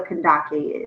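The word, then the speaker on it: Kandake: Okay, so I want to start with the pronunciation and just telling you a little bit about what a Kandaki is. So the name is pronounced Kandaki.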